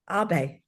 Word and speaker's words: Ave: Abe. That's how we should pronounce Ave.